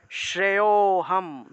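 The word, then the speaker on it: श्रेयोऽहम्: গত পিওয়া শ্রেয়োহাম শ্রেয়হাম অর্থাৎ শ্রেয় শ্রেয়তে গিয়ে ও তে গিয়ে আমি এখানে একটু টান দিয়েছি অর্থাৎ এই যে শ্রেয় এর সাথে সাথে একটা অ চলে আসলো সেই অটাকে একটু টান দিয়ে উচ্চারণ করতে হয় আর এই যে অটা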